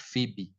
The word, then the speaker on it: Phoebe: Don't want people to tell you that word is not read as Foebe. It's written as Phoebe. You call it, this is how you say it. You say it Phoebe.